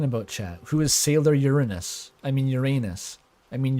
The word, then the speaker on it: Uranus: Who is Sailor Uranus? I mean Uranus. I mean your butthole. I mean Uranus. I think the more original pronunciation is like Oranos, right?